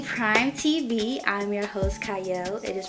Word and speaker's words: Qiayel: y'all welcome to Prime TV I'm your host cyle it is pronounced or spelled with a cute but it's pronounced cyle and today I have a wonderful guest with